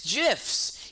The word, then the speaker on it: GIF: the guy who created gifts gifs gifts gifs pronounced it says it's jiffs he says it's jiffs it also makes sense